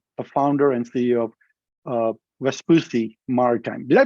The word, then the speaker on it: Vespucci: Without further ado, please join me in welcoming Lars Jensen, the founder and CEO of Vespucci Maritime. Did I pronounce Vespucci, Lars, correctly?